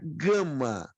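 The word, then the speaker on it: γάμμα: E a letra gama é pronunciada como a letra G de guerra.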